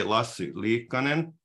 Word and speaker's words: Lassi Liikkanen: distinguished distinguished guest today lastly Conan my name is pronounced in Finnish and I've been involved